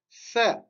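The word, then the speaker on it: ثاء: Donc, le C, pour le prononcer, il faut mettre la langue entre les dents. D'accord? C.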